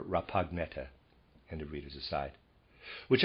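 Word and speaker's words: Rapagnetta: life his name was rapagneti excuse me neta peter's aside spelled r a p a g n e t t a i'm not sure if that g is silent or pineata or rappagnetta and the readers aside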